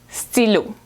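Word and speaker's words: stylo: same e there's no it doesn't sound like a y in English right so it's Silo okay a pencil is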